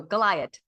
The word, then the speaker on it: Gliot: She told me to pronounce it like Goliath, but without the th sound at the end. So, Goliath.